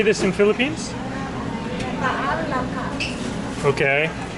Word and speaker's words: Ginataang Langka: Ginataang Langka.